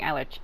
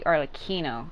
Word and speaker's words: Arlecchino: I was saying Arlecchino, or Arlecchino, but it's actually Arlecchino is how you say it.